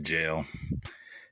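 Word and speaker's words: gaol: that word up pardon apparently it's just pronounced J jail it took a hard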